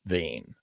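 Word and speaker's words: Vaine: One of my alter egos is Vane. Yes, that's right. Vane. Vane is spelled V-A-I-N-E.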